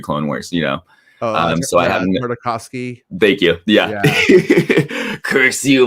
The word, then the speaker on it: Tartakovsky: I love I always have a hard time pronouncing this last name, but the 2003 Clone Wars, so I haven't. Tartakovsky.